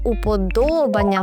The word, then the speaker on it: уподобання: Але треба запам'ятати, що уподобання має наголос на о, а не Аня.